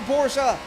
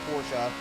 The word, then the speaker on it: Porsche: No, it is Porsche. The guy's name who invented it is Porsche. So, he's German. You got to use that pronunciation.